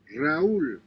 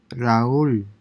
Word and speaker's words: Raúl: So basically, this A and U are pronounced separately. baúl, Baul, Raúl, Raúl, Raúl, Raúl, aupa, aupa.